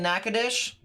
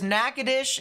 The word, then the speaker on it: Natchitoches: because there's not caused there's nakadish in Louisiana that has the TCH i t o c h e s it looks like Natchitoches but it's not it's nakadish then you have the